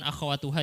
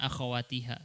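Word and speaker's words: أخواتها: wa akhawaha tadi bukan akhawatuha ya bacanya akhawatiha Salah khabarnya Inna dan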